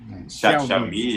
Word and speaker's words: Xiaomi: Enfim, a pronúncia Xiaomi, exato. Xiaomi. O X não é X, né? Quando eu boto um X, é meio que um SH, Xiaomi.